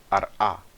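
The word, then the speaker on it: ארע: A palavra eretz em hebraico é pronunciada ar-a em aramaico, tá bom?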